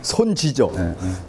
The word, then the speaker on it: 손지: 손자의 제주도 방언이 뭐죠 손지죠 제주도 방언에서는 아들자의 자가 주로 지라고 발음이 돼요 아시겠죠 그럼 이놈이 자가